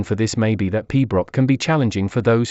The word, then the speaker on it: pibroch: Can you think of any reason why some people might find the pibroch genre of music a tad boring? Piberichad, pronounced pibroch, is a classical music